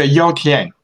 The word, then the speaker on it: Yao Qian: Chinese singer Yao Qian, am I saying that name right? Tell me how to say it. Yeah, Yao Tian. Yao Tian. Yao Qian. Yes, you're very close, yes.